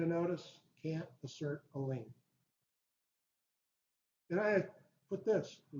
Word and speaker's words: lien: Lien, unless you spell it L-E-A-N.